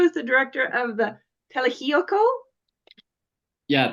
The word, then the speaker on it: Tlaxiaco: So Sergio is the director of the Tlaxiaco. Yeah, Tlaxiaco, yeah.